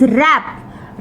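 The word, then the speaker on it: wrap: उच्चारण में नेक्स्ट इस रेप रेप शब्द में कि डब्लू साइलेंट है जब इसका उच्चारण करते हैं तो आवाज आर से शुरू होती है रैप नेक्स्ट जो कि यहां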